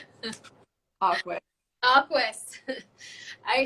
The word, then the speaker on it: Aquis: So I started using our Aqui. Is that how you say it? Awkward. Aquis.